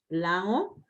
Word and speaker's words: Lango: I speak a language called Lango. It's pronounced Lango, but written Lango.